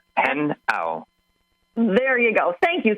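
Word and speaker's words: Hnao: vowels in there henow h n a o pronounced henow there you go thank you thank you so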